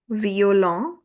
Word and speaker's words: violon: At the end, we have just one syllable, which is on. violon Double V also gives you the sound of V.